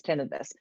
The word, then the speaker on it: tinnitus: You may already have noticed that I'm saying it is tinnitus.